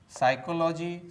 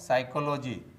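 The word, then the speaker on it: psychology: तो दोस्तों, आपको भी साइलेंट लेटर पी से बने शब्दों का इसी प्रकार से प्रोनाउंसिएशन करना चाहिए। दोस्तों, अब आते हैं इसके स्पेलिंग पर।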